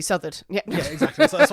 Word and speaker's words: Southard: Depending on how you're pronouncing these things. Well, correctly would be Southard.